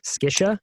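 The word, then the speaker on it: SCSHA: So SCISHA is how they say it.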